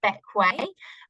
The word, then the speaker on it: Bequia: other than how to pronounce it, it's actually pronounced Bequia, despite being spelt more like Bequia, is where is Bequia and how do you get there?